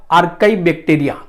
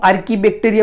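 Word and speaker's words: archaebacteria: होगा आर्काई बैक्टीरिया, बराबर, या तो जिसको हम आर्की बैक्टीरिया भी बोलते हैं समटाइम, मतलब के प्रोनाउंसिएशन में आर्की बैक्टीरिया होता है या तो आर्काई बैक्टीरिया। सो आप कुछ भी बोल सकते हो।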